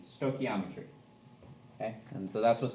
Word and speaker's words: stoichiometry: just copy from somebody so um so it's pronounced stoy and then think of key um e and tree so sto key ometry stochiometry okay and so that's what this unit will